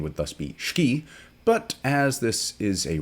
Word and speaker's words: Schkee: on one's predilections we're talking tonight about the shaki DB1 it's spelled s c ke as you probably saw in the headline so my thinking would be that such pronunciation would thus be ski but as this is a racing channel and